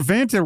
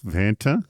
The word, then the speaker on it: Vanta: Remember, Vanta rhymes with Santa. So, how can it not be fun? I think it rhymes with Fanta. So, it's very bubbly and physio. Bubbly. Vanta.